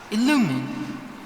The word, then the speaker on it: Illumine: Illumine. Illumine. Okay, I got the accent wrong. That's what I feel. Illumine.